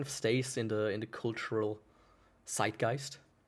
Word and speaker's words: zeitgeist: How it just kind of stays in the cultural zeitgeist. Or if it's correctly pronounced, zeitgeist. Because the Z is not pronounced so weakly. Right? Real men pronounce it like a very hard letter.